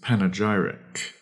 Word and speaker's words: panegyric: Our third word is panegyric. Panegyric. That is spelled P-A-N, pan.